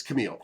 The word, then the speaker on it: Kalmele: actually messaged her to ask her how does pronouncing because i want to say it wrong and it's camille there you go three people to look at